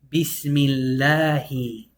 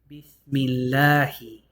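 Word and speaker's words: بِسْمِ اللهِ: We're actually going to pronounce it lightly this time. Bismillahi. Bismillahi.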